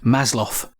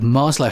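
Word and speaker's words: Maslow: Eastern European name Will pronounce the W as a v masloff one of his assistants has gone on record to state that Marlo himself pronounced it Marlo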